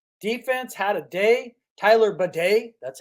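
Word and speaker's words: Badie: it would indicate defense had a day Tyler baday that's how it's pronounced had a day and the offense finally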